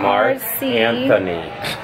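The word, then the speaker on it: Marc Anthony: How do you pronounce it? It's M-A-R-C. Mark Anthony.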